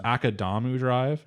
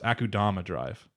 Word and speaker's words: Akudama Drive: spelling it wrong because it's akadamu drive no it's akudama drive you said that the